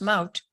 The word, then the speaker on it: Maud: which was sprunk and your first name in English it's pronounced more than Dutch it's pronounced mount I now became or